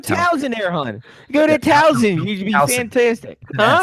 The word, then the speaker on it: Towson: Go to Towson. You'd be fantastic. Huh? It's an S, not a Z. No, it's fine. Towson.